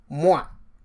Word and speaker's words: moi: a preceding lesson that when you have O and I, that is pronounced wa. And so that is why we can say moi, which means me, or toi, which is you.